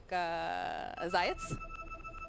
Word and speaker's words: Zayats: Unlike Zayats. Everyone pronounces Zayak. Zayx. Zayats. Well, Zayats.